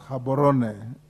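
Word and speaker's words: Gaborone: headquarters in Gibbon Botswana it is pronounced habon Botana next chairperson public Investments committee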